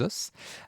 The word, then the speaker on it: os: Moi, à la véronaise, normalement, je prononce toutes les lettres, donc je vais dire les os.